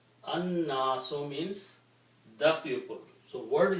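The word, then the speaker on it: النَّاسُ: And when you pronounce, then noon being a shamsi letter will kill the sound of lam, and it will be pronounced with a shadda, so it will become annasu. Annasu means the pupil.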